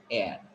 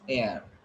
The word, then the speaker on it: air: When you pronounce it, it will be air. Here you should not pronounce R. It's air.